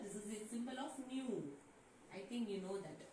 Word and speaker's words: nu: Students, here that nu voice nu, it can be pronounced as nu. Okay, see. So nu is equal to, sometimes they can write V. It is not a V, students.